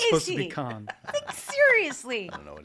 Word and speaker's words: Cannes: cans?